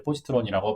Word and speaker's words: Positron: 이제 포지트론이라고 발음을 해요.